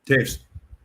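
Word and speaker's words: Toews: And so my kid was a big fan of like Kane and Tao is how you pronounce his name. Taves.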